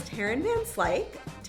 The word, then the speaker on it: Tarreyn Van Slyke: Our guest today is Tarreyn Van Slyke.